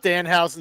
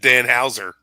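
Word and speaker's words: Danhausen: We We had thoughts about Dan Housen that we talked about this past Sunday. See, I said his name wrong. I said Dan Hower.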